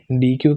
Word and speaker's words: deque: हाँ, इसी pronunciation D ई सी के डेक होती है, क्लैश रॉयल वाला।